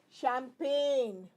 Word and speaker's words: champagne: Now the next one that we are doing is silent G. In many places, G is not spoken. Like foreign. What do you see here? Rain. Okay? This is champagne. GN.